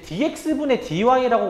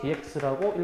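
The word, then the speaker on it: dy/dx: 그래서 저거를 제 분수처럼 생겼으니까 쟤를 이제 dx분 dy라고 원래는 읽는게 아니야. 원래는 뭐라고 읽으시는 거냐면은 분모부터 읽는게 아니라 분자부터 읽어 가지고 이거 한글로 그대로 씁니다. dydx라고 읽어 줘야 돼.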